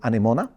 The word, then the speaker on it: Anemone: But No, I like that pronunciation. I mean, anemone is the... Anemone. English. Yeah, anemone. Yeah, Anemone. but, okay. Yeah. So Anemone Either it is is fine.